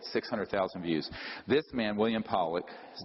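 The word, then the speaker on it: Pawelec: This man, William Powlick, his name is pronounced Powlick, was a man, very good man, who gave me an interview only to be released posthumously after he died.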